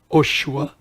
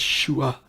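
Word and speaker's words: שׁוּעַ: It's not Oshua. No, it's Shua. Shua, right? And it's spelled different in Hebrew.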